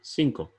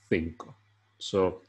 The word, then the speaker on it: cinco: so for example uh in south america cinco is gonna sound cinco as i'm doing it now but in spain it's going to be more like think so always be aware that